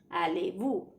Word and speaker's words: allez-vous: Z is not pronounced. It's silent. Comment allez-vous.